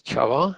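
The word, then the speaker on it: Csaba: name is chavo and if you're wondering how to say my name the hungarian sparring is going to be very confusing you probably want to look at this other spanning and then you'll be pretty close so you can just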